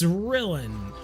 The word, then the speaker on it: Rylan: Is it Rylan or Rillin? I could see it kind of being spelled like Dylan, but with an R. It's Rillin.